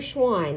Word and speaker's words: Schwann: cells and i remember schwann because it reminds me it rhymes with swan which is an animal